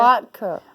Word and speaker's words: latke: Latke.